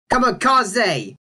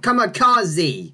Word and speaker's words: kamikaze: And this should be, of course, Kamikaze, not Kamikaze.